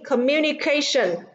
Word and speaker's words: communication: À, vì communication, trọng âm rơi vào âm tiết thứ 4, còn lại thì trọng âm rơi vào âm tiết thứ 3.